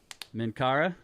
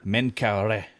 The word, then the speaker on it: Menkaure: go here uh so minkara i i'm never sure exactly how to say this you know yusuf said min kara menkaure yeah so uh but this